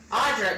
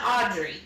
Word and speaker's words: Audra: daughter's name was audra thank you audra not audrey my brother okay gg being